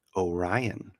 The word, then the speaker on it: Oren: Oren says that Oren in the chat says my name is pronounced like Orion.